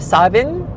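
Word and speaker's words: Samhain: It's more of a savin. So a little bit more v than w a little more a than o s not not sa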